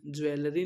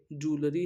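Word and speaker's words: jewellery: का word information आगे का वर्ड है ज्वेलरी ज्वेलरी नहीं है ये ज्वेलरी है ज्वेलरी स्पेलिंग जे ई डब्लू E double L ई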